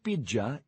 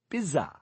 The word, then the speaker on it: pizza: It's not Pidgea, it's Piza. Say it properly. Wait, you're mispronouncing it, too. There's a T in the middle.